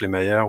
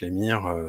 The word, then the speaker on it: Lemire: Des auteurs très connus, hein, du Sean Murphy, du Jeff Lemire ou Jeff Lemire, selon vos convenances de prononciation.